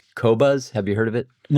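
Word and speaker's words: Qobuz: off, but it's Q O B U Z Kobuzz.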